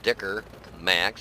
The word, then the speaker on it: Dicker Max: Actually, it's Dicker Max. That's how it's pronounced.